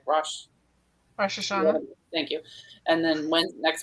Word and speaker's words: Rosh Hashanah: Rosh Hashanah.